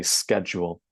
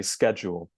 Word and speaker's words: schedule: So then, the word schedule can be pronounced like a sh in British English or a k sound in American English. So the Americans would say schedule.